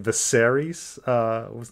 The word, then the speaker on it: Viserys: know i said oh his name is visarise you know or advisories or something like that's just um to to suddenly put the emphasis on you know the the second syllable you know to make it viserys uh it was not